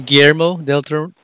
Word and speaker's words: Guillermo del Toro: Is it Guillermo del Toro? Yeah, because there's two L's, it's Guillermo. Guillermo. But if you're Filipino, it's Guillermo.